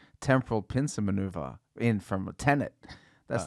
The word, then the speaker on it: Tenet: So the name is Tenet. Yeah, like 10 with an ET at the end.